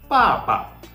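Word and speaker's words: 爸爸: n so is it is clear no papa Papa okay so in the first tone in the first syllable there's the fourth Stone and in the second syllable it is the neutral tone so papa papa okay so neutral tone is relatively easy okay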